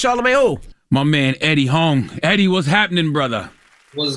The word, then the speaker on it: Huang: It means big yellow, Huang. So in Chinese, that's how you say it.